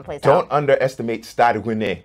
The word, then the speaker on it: Rennais: Don't underestimate Stade Rennais. You have to say it like that because it's French.